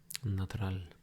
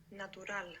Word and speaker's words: natural: this is not Spanish you want to think how is it written and pronounce the letters as they are so how do you think you would say natural in Spanish natural natural natural good that's a